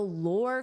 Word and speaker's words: lore: The lore created around the bar, the lore. For pronunciation, notice it's the same as or, and then just add an L. Lore, lore.